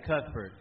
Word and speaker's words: Cuthbert: I know you're from Cuthbert, Georgia. Is that how you pronounce it? Yeah, Cuthbert.